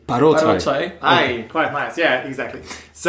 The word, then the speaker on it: Paroczay: Actually, the way how we pronounce my last name is Paroczay. Paroczay.